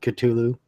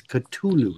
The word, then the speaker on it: Cthulhu: told me that yeah the correct pronunciation was Cthulhu not Cthulhu so Metallica got it right so that's the way